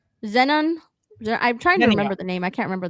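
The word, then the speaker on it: xenon: This at the same time, it's like Zenon. I'm trying to remember the name. I can't remember the name. Yeah, an X in Greek would be pronounced like a Z.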